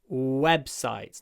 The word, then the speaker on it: websites: and especially considering that it's a long W you must pronounce it correctly W lower your chin web websites not web web not V but w w with a low chin websites websites webs ites